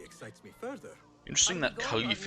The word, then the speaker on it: Khalif: me further interesting that Khalif is pronounced more like with an H sound like Khalif lead the way I'm